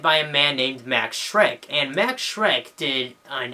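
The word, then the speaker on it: Schreck: name is Max Shrek It's s c hre e c k so it's just kind of a weird way of spelling Shrek I guess um correct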